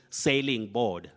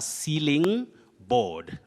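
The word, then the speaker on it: ceiling board: Some people find themselves saying sailing board. Sailing board, no. You say a sealing board.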